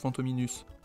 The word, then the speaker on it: Fantominus: Fantôme Minus du coup qui construit autour de Fantôme et de la terminaison US quoi. US. Prononce ous si on suit ce que me disait ma prof de latin de collège.